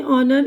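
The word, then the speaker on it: honour: अब इसके बाद यहाँ पर जो है एच की आवाज़ साइलेंट है। ये ऑनर इज्जत, आवर घंटा, टॉम्स, टॉम्स नाम है, ठीक है।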